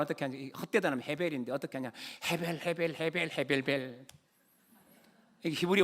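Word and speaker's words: הֶבֶל: 이 발음은 어떻게 하냐? 헛되다는 헤벨인데 어떻게 하냐?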